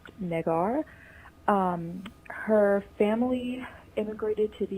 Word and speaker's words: Negar: It's spelled Negar, pronounced Negar.